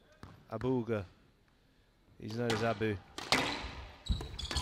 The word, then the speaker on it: Abouelghar: He's not happy about saying his name wrong, by the way. It's Abouelghar. Abouelghar.